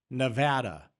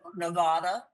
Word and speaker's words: Nevada: They try to give it the Spanish pronunciation, which is not correct.